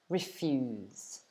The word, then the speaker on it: refuse: to refuse okay so we pronounce it refuse all right i hope